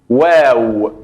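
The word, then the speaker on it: واو: La letra waw es como la letra U o como la letra W en el idioma español, pero se diferencia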